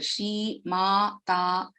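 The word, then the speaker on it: श्रीमाता: So all are Dirgha letters here. Shri Mata, long vowels.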